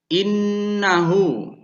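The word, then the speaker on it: إِنَّهُ: kemudian lafadz yang selanjutnya innahu yang artinya sesungguhnya cara membacanya ini mendengung ketika ada Non yang bersih PDA atau bertasydid dengan hukum bacaan gunnah kemudian lafadz yang selanjutnya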